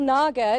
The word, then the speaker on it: Nagar: Yes, so Snehal Nagar, to rhyme with lager, if that helps us